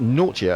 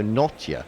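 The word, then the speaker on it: Nortje: great Smith says that not yet as we've been pronouncing mispronounced nearly like Nokia so not yet not yes I think that's why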